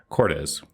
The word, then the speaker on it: Cordes: cortez i said it wrong didn't i no you said it right okay sweet i never